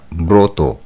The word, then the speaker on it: ব্রত: হবে বয় ফলা ত ব্রত শব্দের সঠিক উচ্চারণের রূপটি হলো বয় এর ফলা ওকার ত ওকার ব্রত 47 নম্বর প্রশ্ন কবিতার